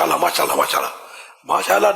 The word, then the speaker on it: ماشاء اللہ: ماشاء اللہ نہیں ہے نا، ماشاء اللہ، ماشاء اللہ صحیح تلفظ تو یہ ہے نا.